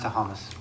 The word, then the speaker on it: Thomas: It's pronounced Tahamas.